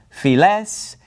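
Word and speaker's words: φυλαῖς: to be pronounced tess files tesenti diaspora all right so all of those alpha yota diphthongs are pronounced like epsilons okay now this word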